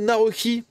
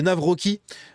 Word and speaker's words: Nawrocki: Ici on a Carole Nawrocki, ou Nawrocki, mais je crois que c'est Nawrocki. Je crois que le W se prononce V, je sais plus.